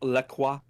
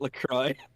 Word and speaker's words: LaCroix: but no it's not LeCrae they say it Lacroix that's what they say oh my god really yes they say it's Lacroix it rhymes with enjoy that's literally what the